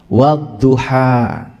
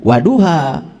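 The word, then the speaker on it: والضحى: Jadi wadduha e han-nya ha kecil wadduha gitu bacanya dua harakat ya. Wah jangan salah. Itu ada tasdid. Jadi jangan waduha wadduha gitu ada tasdid.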